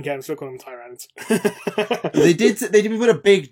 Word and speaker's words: Tyranids: Also, sorry, Rem, it's Tyranids. I don't care, I'm still calling them Tyranids.